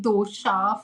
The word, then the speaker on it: dosa: He's like dosha for dosa. But technically, he's not wrong. That's the Malayali Is it? pronunciation. Yes. Oh god, it just like irked me so much because we don't say that in Karnataka.